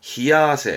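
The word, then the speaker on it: 冷や汗: 발음은 아세, 발음은 히야세.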